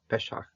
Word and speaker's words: Pesach: Still, of course, among the Jewish people, Pesach is Pesach, and pronounce it Milel. Okay, Pesach.